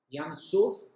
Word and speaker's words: Yam Suf: Y la palabra juncos en hebreo son exactamente las mismas letras, en el mismo orden y todo, solo se cambia la pronunciación, que la palabra Sof. Yam Suf quiere decir mar de juncos. Yam Sof quiere decir mar de finales.